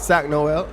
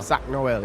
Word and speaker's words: Sak Noel: Sak Sak Noel. Yeah. Sak Noel. Sak Noel.